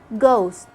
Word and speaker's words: ghost: beginning of a word the h is silent and i only pronounce the sound of the g like when you say ghost gee ghastly another case